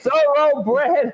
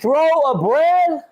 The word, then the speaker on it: thoroughbred: Break it up. Thorough. Bread. Bread. There you go. Now say Thoroughbred. it fast. Huh? Thoroughbred. Thorough. Say it. Thorough. What? Thorough. Thorough. Thorough. Not thorough. No. Thorough. Thorough. Put a U in there. Thorough. Third, like THUR, like if I from a pronunciation.